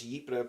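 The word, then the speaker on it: Ypres: Belgium um who uh got me to pronounce yipra properly um uh he suggested I should watch uh the wipers papers which is uh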